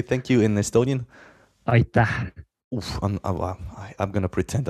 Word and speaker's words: Aitäh: Aitäh. Oof, I'm going to pretend I didn't hear that. I have no way. Come again? Aitäh. So it's A-I-T-A-H. Aitäh. Aitäh.